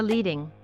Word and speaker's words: leading: Line spacing or leading, which rhymes with heading, is the space between two lines of text.